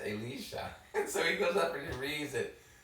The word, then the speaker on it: Elisha: Brant Petrie commenting on the readings, and he used Elisha. So that is the proper pronunciation for.